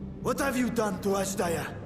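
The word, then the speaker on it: Azdaja: What have you done to Ashdaya? Asdaya.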